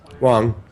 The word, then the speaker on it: Wang: Ray Wang, who's Wang, is it Wang? Wang. Yeah, thank you. Cool. We're having an argument, my producer and I, about the pronunciation of a name.